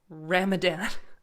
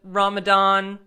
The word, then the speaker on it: Ramadan: because I like that it notes that it's not a hard D sound however more commonly you